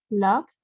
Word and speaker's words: locked: Locked. That's the T sound.